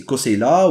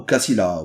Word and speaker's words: Koseila: Et donc il peut être prononcé Koseila ou Kassila ou Kousila.